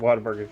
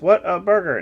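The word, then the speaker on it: Whataburger: all the time down here because we have water burgers down here they're all like but it's what a burger no it's what a burger water burger not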